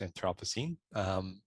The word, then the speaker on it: Anthropocene: human development for the anthropocene which can also be pronounced anthropocene both are fine acting for change in